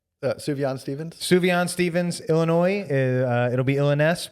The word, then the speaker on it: Sufjan Stevens: Sufjan Stevens, Illinois.